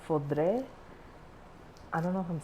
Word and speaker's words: foudre: not barrels, tanks, which in French it's called foudre. I don't know if I'm saying that right, but it's spelled I see it in all my wine